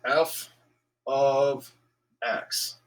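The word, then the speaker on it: f(x): going to write f of x sorry it's pronounced f of x that's how you say this this is a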